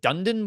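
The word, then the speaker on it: Dunedin: Uh Payton's jersey of the week uh is going to go to the is it Dundan Blue Jays? Kenny, am I pronouncing his name? Duneden. See, I should just let you do it.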